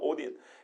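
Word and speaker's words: ὠδίν: 그리고 14절까지는 제나이라고 되어 있어요. 오딘이라고 읽습니다. 히브리어, 헬라어로 오딘.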